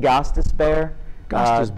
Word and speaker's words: Gostisbehere: Go ahead and pronounce his name. It's Shane Gostisbehere.